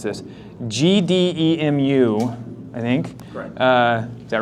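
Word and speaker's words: GDEMU: was here because I feel like I'm gonna mispronounce this GD muu I think uh is that right yeah yes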